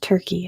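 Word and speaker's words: Türkiye: And yes, it's still pronounced Turkey. It's just spelled differently.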